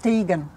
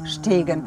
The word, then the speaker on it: Ter Stegen: Yeah, I think it's pronounced Stegen, ah, not Stegen. Okay. Normally you're right, yes. because normally it's like Sht.